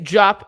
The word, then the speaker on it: Diop: I never say it right. It's Diop.